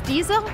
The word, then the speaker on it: Diesel: I once babysat a dog and its name was Diesel. So I know how to pronounce this brand. It's Diesel. Super easy, very famous.